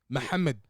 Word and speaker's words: Muhammad: Muhammad.